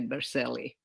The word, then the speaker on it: Berceli: So it's spelled Bercelli, but being that we are American, we say Berceli.